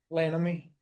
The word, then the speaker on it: Lammy: How do I say your last name? Lammy. Lammy. Lammy.